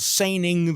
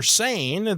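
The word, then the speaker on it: Seine: trotlining the James River so uh that's called Sing the river and so the river San that's what it looks like but actually in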